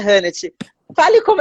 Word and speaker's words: Hannette: a net quadro destaque então no brasil seria net mas aqui nos estados unidos como h tem